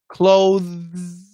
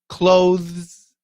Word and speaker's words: clothes: uh the perfect pronunciation clothes clothes clothes clothes that's from a th to a z clothes clothes okay uh